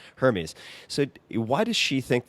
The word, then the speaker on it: Hermes: if it's if you would pronounce it Hermes or Hermes Hermes unless you want to refer to the scarves the scarves right